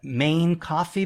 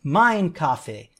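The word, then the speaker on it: Mein Kaffee: this device is that many people call it the Main Coffee because of the way it's spelled. They spell it M-E-I-N coffee. But if you really know, the real purpose is that in German, you say Main Kaffee. Main is really said mine, so it's Mine Kaffee.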